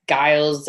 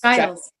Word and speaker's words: Giles: Everybody says like Giles or Gillis. It's only the British that get it right, that get Giles every time. So yes, Giles.